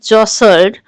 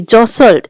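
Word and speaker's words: jostled: People जॉसल्ड for ticket, लोगों ने धक्का मुक्की की। जॉसल्ड, इसको प्रोनाउंस कैसे करेंगे?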